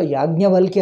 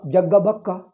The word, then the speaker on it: याज्ञवल्क्य: Then I understood, oh, वो तो याज्ञवल्क्य है. See, Ya is pronounced as Ja in North India. Yajna ku Jagga. Yajna ku Jagga ಹೇಳ್ತಾರೆ. ಈಗ ವಲ್ಕ್ಯಾಕು ವಾನು ಬಾ ಹೇಳಿಬಿಡ್ತಾರೆ. ವಾ pronounced as ba.